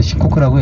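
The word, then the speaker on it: Shikoku: 한자로는 숫자 4에다가 나라국자 써서 4국 이렇게 하고서 일본 발음은 이제 시코크라고 얘기하는데이 시코크가 이제 그 세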